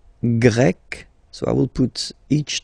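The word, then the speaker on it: grecque: and then you've got GRE masculine form GRE feminine form you write them differently but then if you listen carefully gre gre you pronounce them the same way okay Portugal portug portuges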